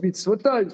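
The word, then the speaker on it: מצותי: Ça se prononce mitzvotai, mais c'est écrit dans le texte de la Torah mitzvato.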